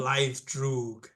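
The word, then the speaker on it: Blaidd Drwg: Blythe Droog.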